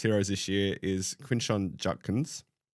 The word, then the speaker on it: Judkins: The first running back uh who will be part of Holly's Heroes this year is Quincon Judkins. Where's where's the T coming from in that pronunciation?